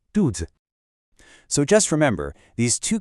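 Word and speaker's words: 兔子: The pronunciation is dudz. Did you hear that? That second part, the z is super light and quick. Dudes.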